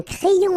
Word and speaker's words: crayon: And then when you get this Y between two vowels, then you will have this cré. So like if you would have I here, A-I, cré, and then another I here, ion. Crayon. Un crayon à lèvres.